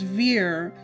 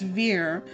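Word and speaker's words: Vere: that okay I have it rhymes with near or near so it's Veer it's Veer there we go I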